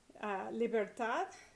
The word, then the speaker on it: libertad: And so that follows the second rule, which is that all words that end in a consonant other than N or S are stressed naturally on the last syllable. Doctor, local, animal, libertad, TAD means TY in English.